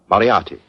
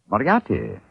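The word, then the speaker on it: Moriarty: mispronounce it I'm afraid I'll have to begin calling it the way it looks m o r i a r t y mariati mariati I shall remember that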